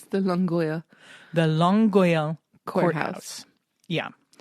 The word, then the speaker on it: Longueuil: And can you help me pronounce the courthouse because it's French? It's the Longueuil.